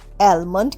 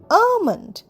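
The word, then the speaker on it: almond: এন ডিমন্ড লক্ষ্য করো এলটা কিন্তু সাইলেন্ট অ্যালমন্ড কিন্তু নয়। আমরা বলবো আমন্ড অর্থাৎ কাঠ বাদাম।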